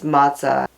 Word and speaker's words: matzah: simply unleavened bread and the word matah could be spelled different ways depending upon the culture where you're reading it um the boxes of it that you buy at the store spell it one way the Bible spells it another way but no matter the spelling it's matah and breaking that down